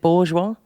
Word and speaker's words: Bourgeois: Is it Bourgeois?